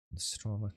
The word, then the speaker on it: Nostromo: How do you pronounce Nostromo? Nostromo.